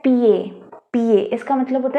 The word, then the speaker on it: pied: Okay, PIED ये होता है PA. इसका मतलब होता है फुट. ठीक है, अब इसमें क्या होगा, D साइलेंट हो जाएगा because D इज a consonant. Okay, तो ये पियद ना होके PA हो जाएगा.